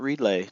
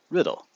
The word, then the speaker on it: Riddle: That's right, Riddle. Not Reedlay, not Reedla, not Rydell, not Riddell. Riddle. Just like it's spelled.